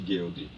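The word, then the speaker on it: Goeldi: Como pronuncia o nome? Formigueiro de Guild.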